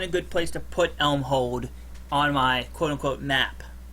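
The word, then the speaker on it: Elmhold: spell that for me e l m h o l d e l m h o l d Elm hold like holding an Elm gotcha indeed okay gotcha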